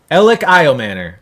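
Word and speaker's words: Elic Ayomanor: Elik Iomanor.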